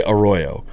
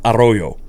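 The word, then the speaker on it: Arroyo: People would say Aoyo, but it's that's not actually how that name is pronounced in Spanish. It's Aoyo.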